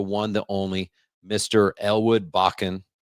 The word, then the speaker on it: Bakken: only Mr Elwood bachan I had to ask him how do you say your how do you say your last name because I knew him as Elwood and I was like oh his name is bachan could have said backing he said some people say bacon I'm like